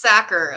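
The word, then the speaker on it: Sachar: pronounced Sacker.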